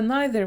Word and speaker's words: neither: говорили про so та neither. Оце neither воно читається інколи як neither.